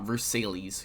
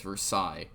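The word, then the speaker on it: Versailles: do so yes that is how that is pronounced the treaty yeah it's not verses okay it's Versa um it does a couple of key things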